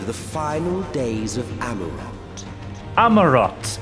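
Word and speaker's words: Amaurot: Amarot is the way you pronounce it. Amarot.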